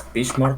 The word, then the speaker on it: Bismarck: I hope I don't pronounce it bad. It's Bismarck, right? Oh, okay, yeah. It's Bismarck.